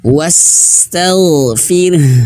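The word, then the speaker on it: وَاسْتَغْفِرْ: Nah, di sini ketika huruf ro yang sukun ya, ro yang sukun, kemudian di depannya ada huruf ha yang mati karena waqaf. Nah, cara bacanya wastaghfir. Nah, jadi huruf ro ini Bapak Ibu, ro-nya menjadi tipis ya, karena dia sukun. Sebelumnya dia berharokat kasroh. Fir, bukan fir tapi fir.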